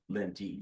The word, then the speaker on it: Lenti: And it's Lent, right? Lenti. Lenti. The E is pronounced.